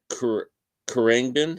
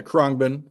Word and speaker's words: Khruangbin: I ordered one of those albums from Khruangbin. How do you say that? Is the way I'm saying that properly? Yeah, Khruangbin. Khruangbin.